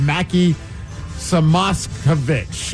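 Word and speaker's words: Mackie Samoskevich: And then they also made a trade for a 23-y old by the name of Mackie Samosovich.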